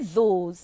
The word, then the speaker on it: those: The word those is spelled T-H-O-S-E. Remember, I have said that words ending with a silent E tells the first vowel to say its name. So therefore, the vowel O says O.